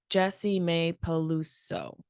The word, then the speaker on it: Jessimae Peluso: Jessimae Peluso. Peluso. 6 syllables is a lot to get through.